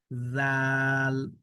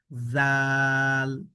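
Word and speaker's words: ذال: নরম করে একদম জিহবার আগায় নিয়ে যান। জিহবার আগা থেকে নরম করে পড়তে হবে এ হরফটাকে। জাল জাল জাস্ট এভাবে ওকে।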